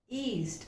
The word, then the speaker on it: yeast: It's yeast. There, this sound is heard. Okay, we have learned this sound, right? Year, as in yellow.